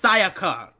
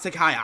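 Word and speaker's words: Sayaka: It's Saiaka, not Sakaya. I don't know why I say Sakaya.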